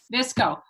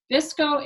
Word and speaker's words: VSCO: And if anyone else wants to know anything about that, Visco is spelled, I know, VSCO.